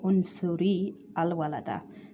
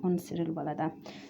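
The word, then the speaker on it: انصرِ الولدَ: The Hamzatul Wasl, connecting Hamza before the Lam, will not be pronounced, although it is written. So Unsuril Walada, we don't say Unsuri Al Walada. So it connects to the Lam, Unsiril Walada.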